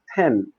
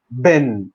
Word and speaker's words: pen: English in general like pen. You call it pen but here in Arabic countries we call it Ben. Ben without being aware of the big mistake that we are making.